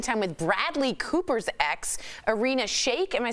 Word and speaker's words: Irina Shayk: According to TMZ, Kanye is spending time with Bradley Cooper's ex, Irina Shayk.